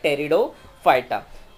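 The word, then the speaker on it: Pteridophyta: में है, ब्रायोफाइटा, एंड the last is your P silent है, तो उसे प्रोनाउंस किया जाता है टेरिडोफाइटा।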